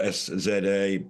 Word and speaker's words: SZA: It's spelled S-Z-A, pronounced SZA.